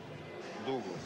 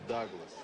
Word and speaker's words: Douglas: у нас в прессе пишется это дугс вообще-то произносится Даглас Давайте его всё-таки будем